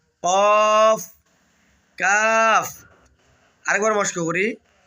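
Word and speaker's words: ك: নোক্তার পরিবর্তে দুটি নোক্তা এসেছে এটার নাম হল কফ কফ কফ কফ উচ্চারণের সময় গোলা থেকে একটা ধাক্কা হবে কফ কফ এরপরে দেখতেছেন যে আলিফ এবং ছোট্ট একটা টান রয়েছে।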